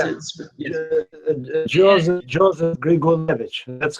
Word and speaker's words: Grigulevich: I guess I know you kind of, you're in your intro, you talked about, it's Grigulevich, right? I mean, is that how you pronounce it? Joseph Grigulevich.